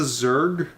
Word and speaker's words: Zerg: What is a Zerg? Oh my god, it's spelled ZURJ, I believe.